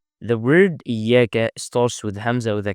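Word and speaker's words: إِيَّاكَ: We don't say iyaka. It's not a, it's i. Iyaka. This ya has a shadda, so we need to pronounce two yas.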